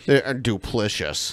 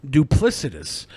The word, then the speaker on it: duplicitous: Duplicious. Duplicious. This is how Brett pronounces duplicitous.